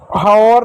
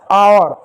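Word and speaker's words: hour: Honest honest इसको हवर नहीं आवर आवर एच को हल्का पढ़ रहे हैं। या साइलेंट ठीक है?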